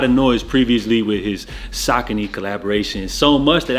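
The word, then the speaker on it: Saucony: noise previously with his saky collaboration so much that I actually had to learn to pronounce this brand correctly for years growing up I was calling these joints sonone or whatever so with all of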